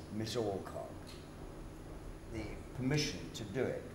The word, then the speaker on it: Alcock: No, Alcock, the film censor said, "I'll allow the actor who says Miss Alcock the permission to do it, but he mustn't emphasize either the first or the second syllable."